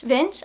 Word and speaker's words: Vetsch: She said it rhymes with wrench. So wrench, Vench.